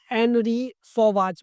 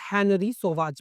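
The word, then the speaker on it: Henri Sauvage: Basically अगर हम French की बात करें तो जो फर्स्ट लेटर एच होता है उसको स्किप कर दिया जाता है। That is silent. तो आप इसको एनरी सोवाज भी पढ़ सकते हैं और हेनरी सोवाज भी पढ़ सकते हैं।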